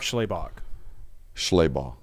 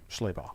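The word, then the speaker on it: Schlabach: an ESPN article it's him and Mark Schllaybach Schlaybach sorry that's a Georgia grad dog you should know how to pronounce that Uh, we have Georgia players who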